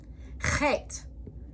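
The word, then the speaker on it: חית: Chet. Chet is pronounced with a throat clearing sound that isn't in the English language.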